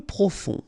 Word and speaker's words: profond: Peu profond. Final D not pronounced.